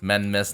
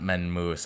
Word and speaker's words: Menmis: Right, it's pronounced Menmis, not Menmoose.